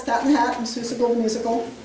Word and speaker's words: Seussical: in the Hat in Seussical the Musical. Did I say it right that time? I always say Zeusical.